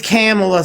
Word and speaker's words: Kamala: It's Kamala, sir.